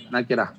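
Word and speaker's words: نكرة: নাকেরা, নাকেরা আরবিতে লিখলে নুন কাপ র গোলতা, ওটা হা হয়ে যায় উচ্চারণ সময়, নাকেরা।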